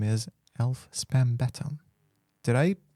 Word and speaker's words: Spannbeton: whose name is Alf Spannbeton. Did I pronounce it right? Kinda. Okay, how would you say it? It's German. It's Alf Spannbeton. Spannbeton. Spannbeton. Yeah, it kind of sounds like a Rammstein song, but Nice.